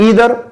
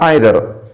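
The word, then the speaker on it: either: और एक बात का ख्याल और भी रखना कि इसे आप ईदर या आइदर दोनों तरीकों से प्रोनाउंस कर सकते हो।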